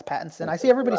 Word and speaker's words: Pattinson: Batman Robin Addison's uh how you pronounce his last name is it Patterson yes I say Pat it's Pattinson yeah it's Pattinson I see everybody spelling